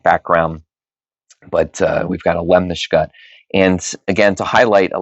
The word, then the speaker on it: lemniscate: what's known as a Lemniscut. What? A Lemniscut. I think I tried to add an extra syllable in there. It kind of looks like it's spelled lemniscate, but trust me, it's pronounced Lemniscut.